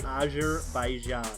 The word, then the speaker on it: Azerbaijan: It's an Eastern European country, and it's pronounced Azerbaijan.